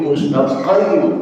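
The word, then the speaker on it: مستقيم: Mustaqim qim q mustaqim. Jangan dipakai kap.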